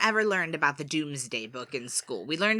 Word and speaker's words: Domesday: It's spelled D-O-M-E-S day.